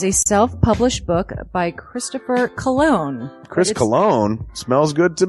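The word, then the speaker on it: Colon: It is a self-published book by Christopher Cologne.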